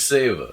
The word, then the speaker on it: Seva: My name's Seva. It rhymes with Sega, S-E-V-A.